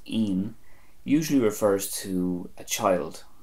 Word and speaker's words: ín: This comes from 2 words, nóin, which comes from the Irish word iarnón, which means afternoon, nóin, and I fada n, pronounced een, usually refers to a child or children.